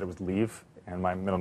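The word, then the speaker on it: Liv: she said it was Leave, and my middle name is. And so it's L-I-V, because it's Norwegian, but so right.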